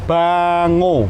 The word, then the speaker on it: Bango: Kalau di peta Bangau, kalau di Google, Sebentar, nah ini perlu diluruskan. Bango, sebenarnya Bango yang ya? bener itu. Jadi Bukan Bangau. pelafalannya Bango, Oh, bukan Bango, bukan Bangau. Nanti dikira burung lagi.